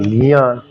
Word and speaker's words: ज्ञान: जोर लगाना पड़ती है, जोर लगाने से सही उच्चारण ज्ञान जा, हाँ ज्ञान।